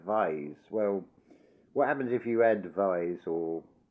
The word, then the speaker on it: Vyse: But the surname Vyse is how it's spelt. It's, I think, as far as I know, it's pronounced Visi, but it looks like Vise.